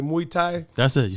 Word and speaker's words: Muay Thai: Next time I randomly check in on the gram, I see you doing, I can't even pronounce, like Muay Thai.